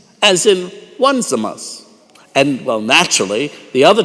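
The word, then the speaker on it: Onesimus: For the first child name is spelled o n e s i m u s as in one zamas and well naturally the other child is named two zamas.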